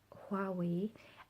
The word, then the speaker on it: Huawei: wanted to get was a quarry and is pronounced that way everybody he's pronouncing it like it's a W and I don't understand